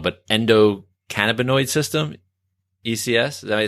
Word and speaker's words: endocannabinoid: want to say this may be wrong, but endocannabinoid system, ECS.